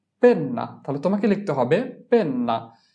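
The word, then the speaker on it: penna: খাতা এরপরে হচ্ছে কলম কলম এর ইতালিয়ান হচ্ছে পেন্না পেন্না তাহলে তোমাকে লিখতে হবে পেন্না পি এন পেন এনে আনা পেন না পি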